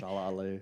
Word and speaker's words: Shalla-Bal: Shalla-Bal.